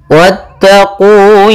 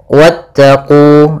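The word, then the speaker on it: واتقوا: Wattaqu yauman laa tajzi nafsun an nafsin saian wala yqbalu minha syafaah wala yuqbalu minha syafaatun wala yukkhadzu minha adlun Pada lafal wattaqu di sini wnya langsung ke huruf ta dan wnya tidak dipanjangkan.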